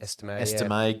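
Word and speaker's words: Estimé: Estime goes.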